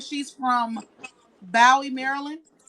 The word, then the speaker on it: Bowie: see if it's I have someone in here saying she's from Bowie, Maryland. Bowie.